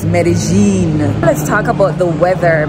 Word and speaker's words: Medellín: very strong accent yes so not medine not medalin medene just like how they say marakuja it's pronounced or it's spelled like maracuya as an